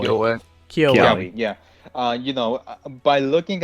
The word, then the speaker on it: Kiawe: How you pronounce his name? Kiawe? Kiawe. Kyoa.